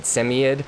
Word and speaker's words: Samoyed: you know, I know the original Russian pronunciation's like, what, Semyed, I think it is, or something along those lines, but most Americans call them Samoyeds or Sammies.